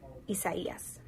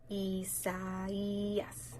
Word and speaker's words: Isaias: The next name in the Atlantic hurricane season will be Isaias. Yep. Isaias.